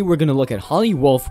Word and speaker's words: Holly Wolf: going to look at holly wolfe which rhymes with hollywood this could be a